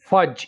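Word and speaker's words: fudge: English में फज कहेंगे फज यहां पर हम डी को साइलेंट रखेंगे फज मेदे को इंग्लिश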